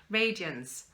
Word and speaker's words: radiance: Radiance, radiance, radiance and with light. So that second syllable of radiance is almost, just kind of disappears really.